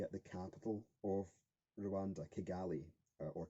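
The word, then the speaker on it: Kigali: the capital of Rwanda kagali or chagali as it's pronounced in kenwanda because the KE is pronounced ch um so if you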